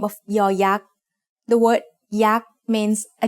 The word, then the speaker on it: ยอยักษ์: sound of a syllable, it makes the sound y, just like the letter Y in yes. As the final sound of a syllable, it adds the sound e that blends with the vowel, just like the Y at the end of the words say and boy.